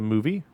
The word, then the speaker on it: MoVI: It's spelled weird, but pronounced movie.